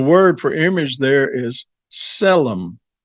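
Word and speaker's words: צֶלֶם: And the word for image there is selmom. starts with a T which is silent but it's Selum which means a image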